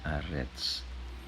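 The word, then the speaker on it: אֶרֶץ: Yang ketiga yaitu tema teologis tentang tanah, ya, bacanya Arets.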